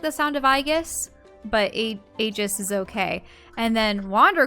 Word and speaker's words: Aegis: go aegis I mean I suppose a Greek pronunciation for a E is e like an elongated II but aegis mmm just doesn't suck doesn't sound as epic as Aegis or I